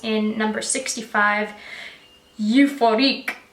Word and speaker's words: Euphorique: It's in number 65, Euphorique, like euphoric I guess, but it kind of sounds like euphorique when I pronounce it in French.